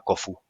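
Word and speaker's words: Khufu: de la pirámide de keops es que nuestro guía turístico que era fantástico Además nos dijo bueno todo el mundo dice keops pero se pronunciaba kofu tú no vas a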